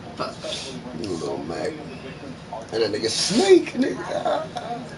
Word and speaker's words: Little Mac: Oh, Little Mac. I knew I was saying it wrong. Oh, I thought it was Little Mike. Fuck. Little Mac.